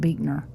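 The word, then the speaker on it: Buechner: it's boot uh well it's spelled b u e c h n e r but I think they pronounce it beer okay got you well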